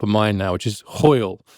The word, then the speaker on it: hwyl: mind now, which is hwyl. It's Hywl, almost impossible to figure out how you say it, hwyl.